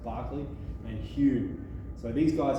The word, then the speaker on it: Berkeley: loch barkley that's belt berkeley pronounced barclay and hugh so these